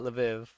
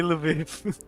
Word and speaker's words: Lviv: be it's not leiv I know it's not leiv I'm just saying that to reference to it